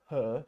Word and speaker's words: her: Now, let's talk about R at the end of a word. Okay? I have a sentence here. It's her shop. Americans might say it's her shop. It's her shop.